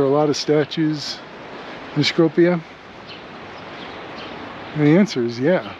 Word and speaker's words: Skopje: I've asked locals, my taxi driver, my Airbnb host, and they all pronounce it differently. So I've settled on Skopje. It's kind of a hybrid of all put together. So you get the idea. It's Skopje. Your mileage may vary. Pronounce it how you like. But again, you see that it's very, very pleasant to look at.